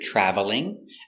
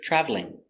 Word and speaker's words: traveling: This example has two pronunciations. Sometimes you hear traveling, and sometimes you hear traveling. So this syllable is silent sometimes.